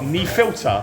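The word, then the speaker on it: Nefiltr: And so I've never had before this Budvar knee filter. I'm told that's how you say it, knee filter.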